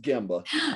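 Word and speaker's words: gemba: glad to have you here today what is gemma it's actually pronounced gamba okay yeah it's uh it's japanese for actually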